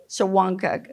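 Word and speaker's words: Shawangunk: Amanda now lives on 20 acres in the shagun mountains how do you say that shanka okay all right mountains with with her husband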